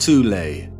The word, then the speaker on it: Thule: Prior to the rise of the Nazi regime, there existed an occult secret society within Germany called the Thule Society, sometimes alternatively pronounced Thule, that had sub-factions within it.